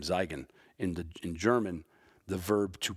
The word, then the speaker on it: Zeigen: I got his name, Zeigen. In German, the verb to point or show is Zeigen, Z-E-I-G-E-N. And in German, if the E is before the I, you pronounce the I.